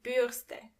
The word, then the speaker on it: Bürste: der Spiegel A brush die Bürste die Bürste And remember, you don't pronounce the r as r but more like g. So, the word is die Bürste.